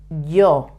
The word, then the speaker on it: yo: this is yo I when it's in front of a vowel the sound is also very similar to the to the English Y in front of a vowel but a little bit stronger like yesterday but putting your tongue touching the roof of your mouth if you say yesterday but with the tongue touching the the roof of your mouth you would say yesterday yes okay so in